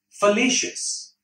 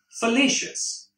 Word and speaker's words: fallacious: to Bursa so the weather the video is fallacious once again fallacious the phonetic spelling would be for late shifts